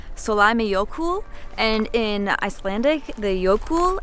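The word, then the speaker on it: Sólheimajökull: We are about to walk to our first glacier of the trip, which is pronounced Solheimajokull, and in Icelandic, the Jökull at the end, I'll put it right here, means glacier.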